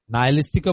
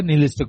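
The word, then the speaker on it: nihilistic: দেখতেছি মানে নিহিস্টিক ভয় যেটাকে বলে নাইলিস্টিকও বলে নিলিস্টিক বলে। দুইটাই কারেক্ট। দুইটা উচ্চারণে কারেক্ট।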